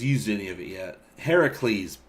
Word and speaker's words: Heracles: any of it yet heracles boom that's it aaron that's how they pronounced it hey recrease heavy please it's the greek origin name now i saw that